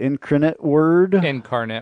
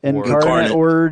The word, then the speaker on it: Incarnate Word: say it right in I don't know how you say it increment word Incarnate Word yeah and who was